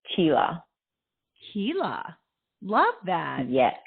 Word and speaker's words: Csilla: correctly it's Sheila like Sheila but with a CH sound Tila Kila love that yes it's